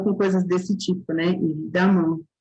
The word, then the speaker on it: évidemment: Évidemment, se escreve com E, mas se pronuncia com A.